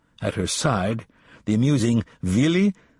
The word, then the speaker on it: Willy: At her side, the amusing Willy, W, pronounced V, Kappler, the silliest-looking man, a